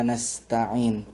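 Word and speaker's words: نستعين: Sedangkan kata nastain dibaca dengan memfathahkan huruf nun yang pertama.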